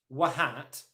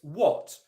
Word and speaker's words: what: pronounced in real life another very simple example is the word what okay it's spelt W h80 but it's not pronounced what hat as I'm sure all of you know it's what what oh okay so the